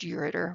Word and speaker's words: ureter: It's really supposed to be pronounced ureter.